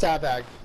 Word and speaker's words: Savag: No, it's Savag. It's Savag. There's no E. Savage is spelled with an E.